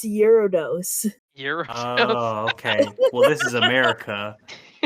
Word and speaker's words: Gyarados: Pokemon specifically it's some gyro doses yeah I don't know what that is Gyarados come on Cheyenne you're the Pokemon person it's pronounced eurodose okay well this is